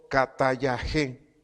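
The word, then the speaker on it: καταλλαγή: La palabra reconciliando, del griego katayaje, K, acento en la E, por favor. Reconciliando, del griego katayaje, que significa restauración al.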